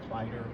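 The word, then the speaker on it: Kleider: My name is Clyder. The last name is spelled K L E I D E R.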